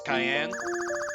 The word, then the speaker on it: Cayenne: You say your name is Cayenne? Yes, it is pronounced like the pepper.